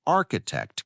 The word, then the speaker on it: architect: Practice saying architect carefully as the ch sound sounds like a k in this word.